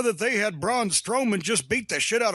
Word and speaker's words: Braun Strowman: Braun Strowman or Brown? I think you got it. Braun Strowman.